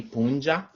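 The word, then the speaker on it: puncha: you spell this ali punja is a l is a l l i p u n c h a i could not explain to you why it's spelled that way but pronounced punja um it's very difficult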